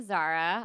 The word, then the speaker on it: Zahra: Yeah, I'm Zara. You could find me on all the socials at really Zara. Zara is spelled Zahra.